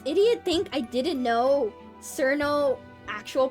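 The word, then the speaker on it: Cirno: or something of like, oh, are you Cherino? Oh, sorry, I guess you don't know the correct pronunciation. Cerno.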